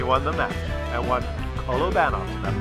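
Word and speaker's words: Kolobanov: And I changed my pronunciation to Kolovanov's because one great Russian subscriber sent me a note and actually explained that that is how you say it, Kolovanov.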